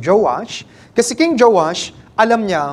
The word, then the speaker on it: Joash: Sa English po Joash. Sa tagalog Joas. Gagamitin ko po mas madali sa aking i-pronounce yung Joash.